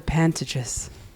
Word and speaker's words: Pantages: Pantages.